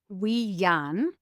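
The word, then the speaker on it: winyan: And the first, it's actually wean. It's spelled w i with an accent n y an i n stands for heaven.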